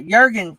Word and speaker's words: Jurgen: i mean i was upset about it uh jurgen's journey it spell j-u-r-g-e-n but it's pronounced jurgen journey yeah he's a one of